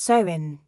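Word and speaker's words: Samhain: They celebrated a festival called Samine, pronounced sewing.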